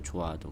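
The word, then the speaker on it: 좋아도: 조아도 이렇게 돼 있는데 이거 발음을 해 보면 어떻게 되죠 히이 발음이 안 되죠 조아도 그래서 이거 이제 축약이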